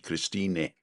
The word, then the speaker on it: Christine: She actually spells it with an E on the end, but we pronounce the E, Christine, isn't it?